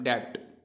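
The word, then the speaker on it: debt: इसी तरीके से अगर आप देखें यहाँ पर डेब्ट, डेब्ट, तो यहाँ पर बी साइलेंट हो जाता है, उसको पढ़ते हैं हम डेब्ट।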